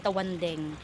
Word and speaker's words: Tawandang: Okay, ang spelling niya is Tawandang pero i-pronounce nimo siya isulti nimo siya is Tawandeng.